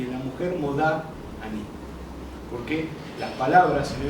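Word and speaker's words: מודה: Bueno, en hebreo varía la pronunciación. Entonces la mujer dice modá, ¿sí? Y el hombre dice modé. Y Ani quiere decir yo.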